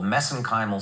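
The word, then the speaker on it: mesenchymal: for that but that's that's a little bit of an Irish accent on my part got uh but anyway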